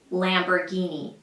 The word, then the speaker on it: Lamborghini: the US they say Lamborghini Lamborghini it's an Italian car brand and in Italian it is pronounced something like number Guinea Lamborghinis Lamborghini this one